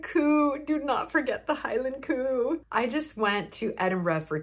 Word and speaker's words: Edinburgh: We arrived pretty late to the Edinburgh airport, and it's pronounced Edinburgh, not Edinburgh, like I thought my entire life.